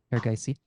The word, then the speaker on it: Erigaisi: Erigaisi? Erigaisi.